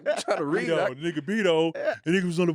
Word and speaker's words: Beto: B-E-T-O. Yeah, It's supposed to be like Roberto, Roberto, yeah. It's supposed to be Beto.